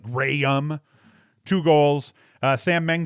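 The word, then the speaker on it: Jrayum: assist luke graham and it's spelt weird j-r-a-y-u-m so it's like graham two goals uh sam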